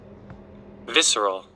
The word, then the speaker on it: visceral: The way that I want to say it is definitely not how it's said. Visceral. Visceral, right.